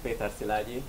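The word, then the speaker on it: Péter Szilágyi: uh hello everyone so if you really want to pronounce my name it's pronounced peter silagi but peter is really fine so don't struggle with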